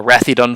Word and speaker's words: Ratheadon: stephen and andrew mcdonald on the wrathy dun farm just mark informs me the correct pronunciation of that word uh it's north of